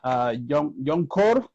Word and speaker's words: Jongkor: Yeah, because your name is a compound name. It's two names, Jong and then Kor.